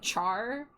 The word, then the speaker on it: Char: That's like if I go somewhere and someone calls me char instead of char like I usually tell them like char like Charizard and then if they keep doing it then I'll just be like shrug.